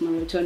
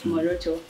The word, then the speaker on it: Moroto: Actually, it's pronounced Moroto, not Moroto.